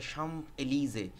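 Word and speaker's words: Champs-Élysées: সিজ জিন অন্যাম্প এলিজে এটার প্রোনাউন্সিয়েশনটা হচ্ছে সাম্প এলিজে সাম্প এলিজে হচ্ছে ফ্রান্সের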